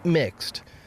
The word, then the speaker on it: Mx: use the pronoun mister instead using mx pronounced mixed a title which does